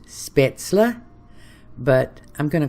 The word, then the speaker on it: Spaetzle: I'm gonna make German noodles which are properly pronounced spaetzle but I'm gonna call it Speights all because that's what we've always called it here's